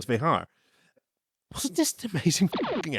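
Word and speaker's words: Vejar: I pronounced it incorrectly as V'ger previously, not realizing, but I've heard since then that it's Vehar.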